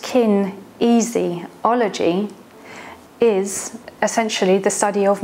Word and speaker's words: kinesiology: and how it works kinesiology pronounced kin easy ology is essentially the study